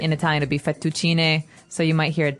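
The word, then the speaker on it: fettuccine: fetuin fet um in in American we say fetuccini fucini fucini Alfredo is a very common American Italian Dish but in Italian it would be fetuin so you might hear it differently and what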